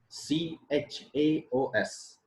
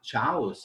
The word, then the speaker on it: chaos: ch is true here but when i say c h a o s when i pronounce the sound it is not chaos remember the pronunciation of this word is chaos chaos that means to like